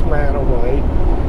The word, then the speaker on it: Mantua: canyon now going through mantua now before everybody says oh man he don't even know how to say it i know how to say it it's man away but the story behind